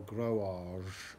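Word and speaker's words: Groac'h: in brittany now of the growac or growage as it's pronounced in breton in the breton language um and their water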